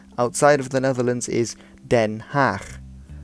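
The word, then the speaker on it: Den Haag: of the Netherlands is den half then half now again this G is a similar sound to the CH used in Schiphol now Rotterdam Amsterdam then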